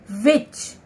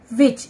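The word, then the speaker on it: witch: विच, डब्ल्यू आई टी सी एच, विच, इसमें टी जो है हमारा साइलेंट है, मिसिंग है।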